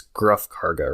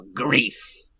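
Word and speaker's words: Greef Karga: Okay, because I was about to pronounce it Grief Karga, but it's Gruff Karga, right? No, Grief.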